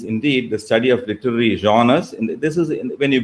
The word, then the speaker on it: genre: This genre is a French word, and that's why it's pronounced like that.